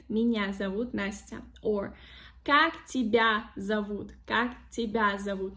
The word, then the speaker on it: тебя: There is no the sound y in these words. Then correct stress, correct accent in the word.